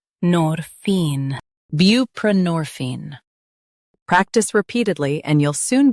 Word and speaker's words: buprenorphine: Both US and UK have the same pronunciation of this word, buprenorphine. Now read the syllables shown on the screen naturally. Bu, p, norphine, buprenorphine. Stress nor and keep bu light.